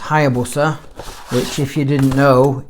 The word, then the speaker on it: Hayabusa: Well, actually it's pronounced Hayabusa. It looks like Hayabusa, but it's actually pronounced Hayabusa, which, if you didn't know, is Japanese for a peregrine falcon.